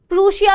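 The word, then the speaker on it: Prussia: प्रूशिया, प्रशिया, बहुत लोग प्रश भी बोलते हैं, तो यार प्रोनाउंसिएशन में खेलना मत कि मैम हम तो प्रशिया बोलते हैं, मैम उन वाली मैम ने तो प्रूशिया बोला था, मैम आप तो प्रशा बोल रहे हो।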